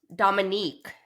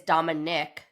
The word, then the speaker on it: Dominique: Dominique is a woman is a girl. Oh, Dominique. You're right. I'm saying it wrong. I'm saying is Dominic.